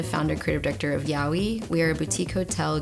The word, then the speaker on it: YOWIE: Just a boutique named after Australia's Sasquatch, YOWIE. It's pronounced Yowie, mate.